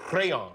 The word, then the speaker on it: Rheon: But Rheon. Rheon, yeah. It's a Welsh RH in the Welsh language is a devoiced, rolled R. It's almost like crayon in a way.